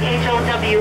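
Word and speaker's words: hau: inside the whole trees spelled h-a-u pronounced like h-o-w how the how wood was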